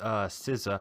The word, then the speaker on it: SZA: Okay, number 7 from me is SZA, which that's how you say it, SZA.